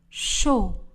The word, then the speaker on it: chaud: Chaud. Le D ne sera pas prononcé. Elle boit du chocolat chaud.